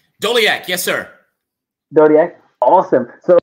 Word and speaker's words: Doleac: fact so my guest is miles and i'm pronouncing the name right doliak yes sir dodie awesome so miles how you